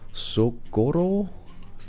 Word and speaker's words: Socorro: That's 400 kilometers to Tucumcari, to Socorro.